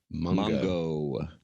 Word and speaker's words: manga: Manga or manga? Am I pronouncing that correctly? Mongo. Okay, I learned something.